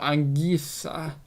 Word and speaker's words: Anguissa: And then assists for Fulham was Zambo Anguissa. I probably haven't pronounced that you name right.